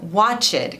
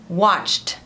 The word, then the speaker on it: watched: Por exemplo, esse primeiro verbo aqui, muita gente fala watched, com duas sílabas, mas a pronúncia certa é watched. Watched. Uma sílaba só com som de T no final.